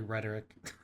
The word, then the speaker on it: rhetoric: actually espouse them it's enough to use right-wing rhetoric or to allow members of your own Community to do so I.E not exercise sensorship diligently enough it it's actually rhetoric you pronounced it correctly but you put the wrong